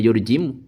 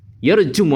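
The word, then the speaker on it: يرجمُ: Jadi yang tepat adalah aadzi yarjumu ala bil waswati bukan yurjimu.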